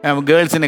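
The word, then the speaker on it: girls: അല്ലാതെ പണ്ടത്തെയൊക്കെ പറയുന്ന പോലെ ഗേൾസിന് ഗറൾസ് എന്നും ഗറൾസ് of this world have കറൾഡ് hair എന്നൊക്കെ പറയുന്ന ലൈനിൽ അപ്പോൾ ഗേൾസ് അതേപോലെ ഓരോ അതിൻ്റെ ഒരു ഉച്ചാരണത്തിൻ്റെ ഒരു ശ്രദ്ധ നമ്മൾ കഴിയുന്നുണ്ടെങ്കിൽ വളരെ നന്നായിരിക്കും.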